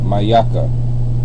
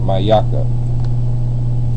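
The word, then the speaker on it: מיכה: high all right and you pronounce it mayaka maaka there's a connector on the end mayaka all right moving on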